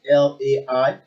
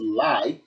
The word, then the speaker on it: Lai: Well, his name will always ring bell all the time, even though it's spelled as Lai, but people have actually changed it to Lie rather than the full name.